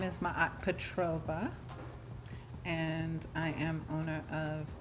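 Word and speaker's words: Maat Petrova: do you say your name my name is ma Petrova and I am owner of f magic a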